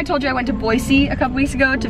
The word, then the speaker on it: Boise: think it is right I always said Boise but when I went and did some stuff on the Boise TV station my cousin's made sure I said it right so I sounded like a local Boise Boise not Boise so when I went